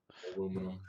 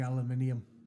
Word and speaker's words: aluminium: Aluminum. North American. Everybody here flips me shit for still saying aluminium. Yeah. Well, to be fair, it's one of the few occasions where we're actually the ones that are saying it wrong, because it was an